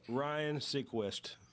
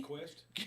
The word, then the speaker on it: Seacrest: Ryan Seacrest. That's correct. Ryan Seacrest is it. So John. Wait a minute. Now he pronounced the last name wrong.